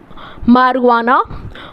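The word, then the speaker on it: marijuana: आपका इसके अंदर हमारी मरवाना मारिजुआना मतलब इसको लिखते ऐसे हैं मारिजुआना ठीक है स्पेलिंग के हिसाब से तो हमारी जो आना है लेकिन उसको मरवाना बोलते हैं ठीक एग्जांपल से आपके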